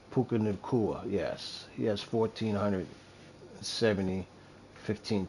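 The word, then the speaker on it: Puka Nacua: Puka Nakua. Puka Nakua, yes.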